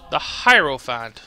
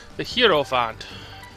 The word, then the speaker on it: hierophant: The hierophant. So that's how you say it. I've been saying the hero font. I guess I was wrong.